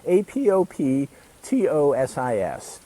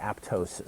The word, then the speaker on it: apoptosis: pronounced like it's spelled apoptosis I've heard where they do the pop really quickly so apoptosis most people that use the term they just say aptosis so the the pop